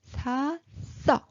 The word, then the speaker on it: 샀어: And at the bottom, we need to use T sound. So, how we pronounce it? 샀어.